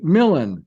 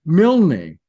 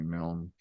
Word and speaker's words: Milne: is more Scottish, and the Scots say Millen. I'm okay with being called Milne, although I do like Milne best. Americans say Milne. I fucking hate that. Oh yeah, But there's put that e on it. That e as an e. That's right. So there's nothing that I can do about that except gently inform them that's actually Milne.